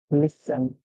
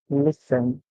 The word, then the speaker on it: listen: we get in so our word would be listen listen listen all right so the t s so when